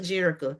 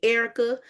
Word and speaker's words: Jerrica: I have been called everything but Jerrica. Some people call me Erica, Jessica, Terica.